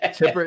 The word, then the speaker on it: Tipper: you know sound Tipp Tipper not Tippy Tipper TI I'm Tippy um she's Tipper I I like to